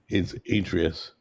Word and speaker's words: Atreus: Pronouncing his name wrong. No, it's Atreus.